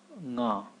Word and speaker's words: ങ: So this is pronounced as Nga. Nga. You have to use your nose a little bit. You push the air down and you say Nga, Nga.